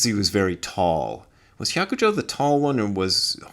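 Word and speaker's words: 百丈: So you just read it hyakujo, which it doesn't sound anything like the Chinese pronunciation Baizhang.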